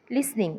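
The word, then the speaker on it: listen: टू लिसन लिसन लिसन लिसनिंग लक्षपूर्वक ऐकणे T silent आहे लिसन म्हणायचं लिसन वाचायचं नाही लिसन लिसन लिसन लिसनिंग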